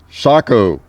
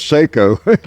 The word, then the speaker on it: Sako: man look at that uhoh looks like a Soo mispronounced as Seiko by most Americans I guess but yes the